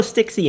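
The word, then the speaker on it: Styx: one thing to note we are not mispronouncing sticksy that was a very horrible core translation spell check it is probably we're 100 certain here it's supposed to be sticks as in the river sticks however when they you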